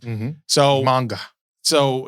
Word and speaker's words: manga: So manga.